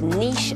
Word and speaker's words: niche: left tenants correct don't know this one it's niche and Niche next clue just me Derby and